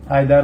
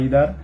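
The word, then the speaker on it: either: Distributive pronoun আপনারা মূলত দেখছেন ইজ, আইদার বা ইদার, নাইদার বা নিদার। নাইদার, আইদার এরা ব্রিটিশ প্রোনাউন্সিয়েশন, আর নিদা ইদার হচ্ছে আমেরিকান প্রোনাউন্সিয়েশন।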